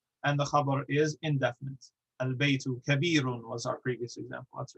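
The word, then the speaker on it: البيت: just give an example we have albeit we pronounce the lamb because the ba is sufficiently far away or different from the lamb whereas an ejmu the star we merge the lamb into the noon because the noon is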